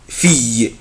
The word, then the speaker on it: fille: اخلي بالي من السلاب ده يا اولاد الاي ال او بنطقها اي fille une fille c'est une fille يعني انها بنت.